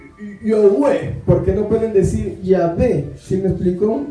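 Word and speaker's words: Yahvé: más sencillo ya va hay quien dice que en realidad se pronuncia ya ve realmente nadie sabe cómo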